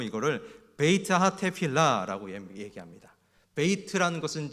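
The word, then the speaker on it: בית התפילה: 전통적인 이 기능은 크게 3가지로 있는데 히 부려 발음으로 이거를 베이츠 하타테 필라 라고 합니다 베이트 라는 것은 집을 얘기하는 거고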